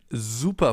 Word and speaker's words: super: That's why it's called Bienen S, because it's pronounced Z, as in super, for example, or sehr.